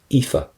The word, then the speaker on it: Aoife: So how did you pronounce that? E. Aoife.